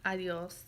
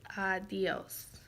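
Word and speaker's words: adiós: If the sounds are two different ones, there's going to be an accent over it. So adios. It's not adios, it's adios. It's two sounds instead of one sound together.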